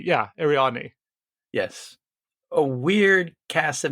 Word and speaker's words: Ariadne: Ariadne. Yeah, Ariadne.